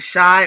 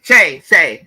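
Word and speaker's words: Shai: Is it Shy or is it Shay? Shay. Because I remember somebody said pronounce it Shay. Okay, got it. It's Shay.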